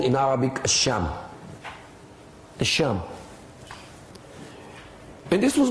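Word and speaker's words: شام: of Islam h m s h a m academic transliteration it's a long a sham and this is how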